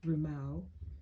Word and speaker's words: harimau: The Malay word for tiger is harimau, usually pronounced rumau. To say harimaru, it makes it more formal, more important.